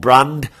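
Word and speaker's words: Brandt: mentioned it's a man called brand I don't think the t's pronounced God my German is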